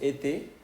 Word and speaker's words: et: de la nariz tenemos ete eso es un es una pequeña palabra que hay que significa y por ejemplo Tony y Manuel y Tony Emanuel Okay pero si se pronuncia e OK Vamos a ponerle